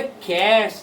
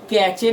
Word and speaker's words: cache: सर अब बोले कैश, लिखे हैं कैचे, तो भाई इसको कैचे नहीं कहते हैं, इसको कैश ही कहते हैं। CACHE, कैश, पैसा, CASH है ना, इसको लेकिन प्रोनाउंस भी कैश मेमोरी होता है।